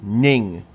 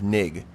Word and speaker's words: Ning: By the way, I found out that this is actually pronounced Ning instead of Nig.